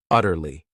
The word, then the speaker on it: utterly: This word has 3 syllables, and the stress is on that first syllable, utterly.